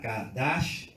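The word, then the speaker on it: קדש: Consagración, dijimos que es del hebreo kadash, con acento en la segunda A, kadash, como cash, kadash, y significa declarar como limpio, ser santo, separado, apartado para Dios.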